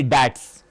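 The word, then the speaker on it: debts: से this one डब इट्स नॉट अ ब इधर ब जो है बी जो है वो प्रोनाउंस नहीं होता सो ट्स कहते हैं बी को खा जाइए ट्स कहिए ट्स मतलब होता है ऋण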